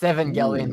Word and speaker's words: Evangelion: Josh nizy Eva oh evangelon Eva 13 it's Evangelion by the way did I say how do you pronounce that Evangelion Evangelion Evangelion I'm theer I